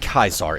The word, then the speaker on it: Caesar: get better prices um in Latin a c sounds like a k it has a hard sound and in English a c sounds like a c so Caesar is said kaisar in Latin which is the reason